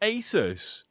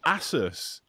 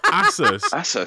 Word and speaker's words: Asus: mean also it's not asus what what by the way this is going super nerdy it's asses it's pronounced asses which they had a marketing campaign because it's supposed to be pegasus so it's asus which